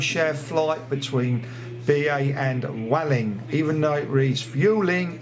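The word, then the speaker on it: Vueling: it's a coach share flight between ba and Welling even though it reads fueling it is pronounced Welling oh my God ba Club Europe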